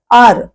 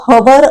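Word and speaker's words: hour: इथे मी लिहिल आवर पण असा वेगळा वेगळा नाही आर असा उच्चार त्याचा होतो आणि त्याच्यात एच हा जो पहिला ह एच म्हणजे ह तो हवर असं नाही म्हणत आपण कधी आर असं म्हणतो आणि म्हणून आर म्हणजे अ किंवा आ पासून उच्चार केल्यामुळे एच हे अक्षर झाल सायलेंट अंडरलाई करायचं राहिल पण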